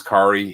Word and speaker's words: Kael: Um and it is Kael. He like he jokes that it rhymes with Atari.